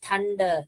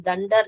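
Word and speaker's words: thunder: और भी बहुत सारे बड़े-बड़े वर्ड्स हैं जो टीएच में जैसे कि थंडर है टी एच थंडर थ थंडर हम दंडर नहीं बोलते तो ऐसे बहुत सारे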